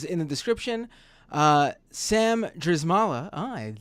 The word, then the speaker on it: Drzymala: the information is in the description uh Sam dzala oh I said it right this time you